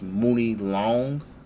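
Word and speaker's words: Muni Long: and coming artists uh her name is moony long money long it's spelt moody long though like m-u-n-i and long you're black woman fine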